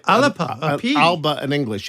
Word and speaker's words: Alba: you pronounce it alipa in the G ala Alba in English it's a soft pronunciation from the GIC alipa in the GIC